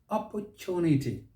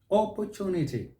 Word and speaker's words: opportunity: the next one is opportunity opportunity opportunity stress is on that third syllable that's the british style the americans will say